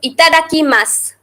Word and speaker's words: itadakimasu: For before eating or drinking, Itadakimasu. Here in English I have written SU, but it is not pronounced as su completely. The U is silent in there. So itadakimasu.